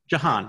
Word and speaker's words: Jehan: yeah yeah uh did am i saying your name wrong jahan yeah you guys okay okay sorry um yeah